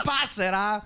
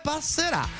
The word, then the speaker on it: Passerà: Se tu mi dici Passera, non credo che Alejandro Baldi abbia mai cantato Passera. Passerà, vedremo, magari te ne faccio un pezzettino dopo i messaggi, però è Passerà, con l'accento, mio caro Massimo da Vigliana.